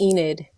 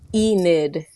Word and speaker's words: Enid: It's Enid. Okay, wait. Now you gotta say that again. Enid. Spell it for me.